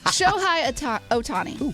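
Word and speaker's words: Shohei Ohtani: home run I've had to put it in pronunciation I've had to really work on it show high Otani okay the man just signed the biggest deal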